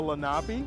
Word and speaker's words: Lenape: They were known as the Lenape, it's spelled L-E-N-A-P-E.